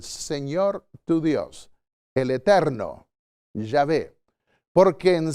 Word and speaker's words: Yahvé: En primer lugar, debe tener el nombre, y vemos que la ley de Dios dice que el nombre es Jehová, o Yahvé, mejor pronunciado, el Eterno.